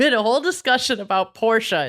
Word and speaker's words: Porsche: A lot of people say Porsche. A lot of people say Porsche, but Porsche owners say Porsche. Apparently you're poor if you say Porsche.